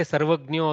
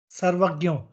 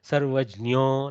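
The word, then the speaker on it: सर्वज्ञो: Try to say Sarvagnyo again. Sarvagyo. See what is happening. Gakara is coming through. Little bit Jakara has to also sound there. Sarvagnyo, Sarvajnyo, like that.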